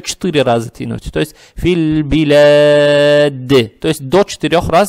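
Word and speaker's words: فِي الْبِلَادِ: Надо читать «филь-билад». «Филь-билад». «Фи» произнесли, не тянем и сразу сюда. «Филь». Теперь при переходе минуем «алиф». «Алиф» не надо читать, подсказка есть. «Лам» читается мягко, здесь с сукуном. И мы понимаем, что следующая буква, буква «ба», она лунная. То есть «филь», «филь-билад». Опять здесь «лам», во-первых, читается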